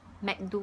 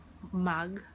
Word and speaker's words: Mag: Pero dito sa Singapore kasi ang A, pinopronounce talaga nila as A. So Mac ang tawag nila sa akin.